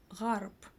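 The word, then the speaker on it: ғарып: Гарб бесприютный, бедный. Гарб читаем через ы. Но потом понимаем, что всё-таки буква ы читается очень коротко, да? Гарб и ударение ставится всё-таки на букву А.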